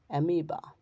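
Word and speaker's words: amoeba: 27 number roll শব্দের শব্দে ই ওই এর উচ্চারণ দীর্ঘই হয় ফনিক্স উদাহরণস্বরূপ ফনিক্স রূপকথার পাখি বিশেষ অমবা এমিবা ক্ষুদ্র এক কোষী প্রাণী ডায়রিয়া ডায়রিয়া একটি পেটের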